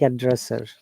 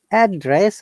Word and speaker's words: address: is a rule when there is a two syllable in a sound or we are breaking the sound the spelling in two way and two parts in that case we have to stress on the first part to make it noun like address okay i'll have to stress